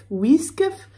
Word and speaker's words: Wiskf: Ça s'écrit W-I-S-K-F, Whiskf.